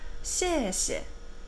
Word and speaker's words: 谢谢: 谢谢, 谢. 이 谢는 힘을 써줘야 돼서 谢谢. 이거는 사성입니다.